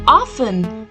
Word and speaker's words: often: we pronounce this word it's often the T in this word remains silent so we pronounce it as often although sometimes often is also accepted but